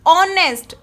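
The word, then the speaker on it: honest: ऑनेस्ट. Start H से है, but pronunciation करते हुए साउंड किसकी आ रही है? ओ की.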